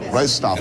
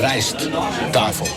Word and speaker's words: Rijsttafel: How do you pronounce it? Rijsttafel. Rijsttafel. Rijsttafel.